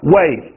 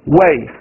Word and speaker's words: weigh: 达重量式，一起来 way，再来一遍 way，一起来 way。gh 结尾，但 gh 不发音